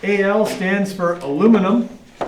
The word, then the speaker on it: aluminium: Okay, so for number 5, Al stands for aluminum. I refuse to pronounce it as it's been recently designated. Okay, it's actually now aluminium, which sounds like really cool, but I just can't bring myself to say it.